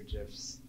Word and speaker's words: GIF: And I apologize, I have lots of GIFs or GIFs, depending on how you say it.